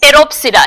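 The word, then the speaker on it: Pteropsida: silent lycopera cenopsida and teropsida here p is silent all right yes they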